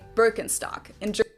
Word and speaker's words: Birkenstock: So English speakers usually say Birkenstock. Okay, yeah, so we take the vowel represented by the letters IR and we pronounce it in the way that we usually would, as in first, or indeed the tree, birch.